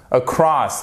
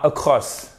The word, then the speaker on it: across: Ensuite, across et pas across. C'est pas across. Non, parce que across. Si vous dites across, on a l'impression que vous dites across. Vous voyez? Donc, ça marche pas. Across, across. Vous voyez, vous avez votre accent tonique ici.